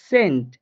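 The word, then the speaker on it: Cent: আমরা দুইটাই উদাহরণ লিখলাম এখানে একটা উদাহরণ দিলাম আমরা ক্যাফে অর্থাৎ এখানে সেটা কিন্তু ক এর মত করে উচ্চারণ হচ্ছে সেম ভাবে দেখেন সেকেন্ড যে উদাহরণটা দিলাম সেন্ট সেন্ট এখানে কিন্তু অর্থাৎ সেটা ছ এর মত করেই উচ্চারণ হইছে তাহলে আমরা দুই জায়গায়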